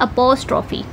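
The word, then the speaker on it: apostrophe: एपॉस्ट्रोफी।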